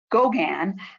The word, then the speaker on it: Gauguin: how to pronounce it uh how do you pronounce Gauguin or goguin um it's Gogan um and he of course is our namesake